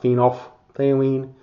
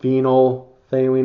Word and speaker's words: phenolphthalein: of disappears it's not phenol they lean just phenol they mean is how we pronounce it that pH kind of is silent and we use it